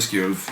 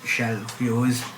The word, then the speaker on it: Skjolf: Skjolf, we've got places to be. It's shelf. You always mispronounce I've it.